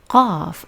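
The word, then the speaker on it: قاف: But there is no sound like this in Persian because it is an Arabic sound. So we pronounce qaf same like ghain. So both are pronounced q.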